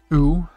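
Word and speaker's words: う: letter u turned sideways pronounced ooh like in you not my bad then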